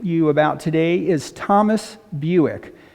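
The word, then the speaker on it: Bewick: about today is thomas buick his last name sounds like the car buick but it's spelled b-e-w-i-c-k buick was british he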